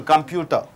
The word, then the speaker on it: computer: t what is there so t is followed and preceded by a bubble t is converted to d computer you say computer computer computer Enter.